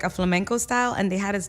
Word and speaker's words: flamenco: type of dance to flamenco? Do? How do you say it? Flamenco? Flamenco. It's like a lot of... It's not like a flamingo, like the pretty bird? Oh. It's a flamenco.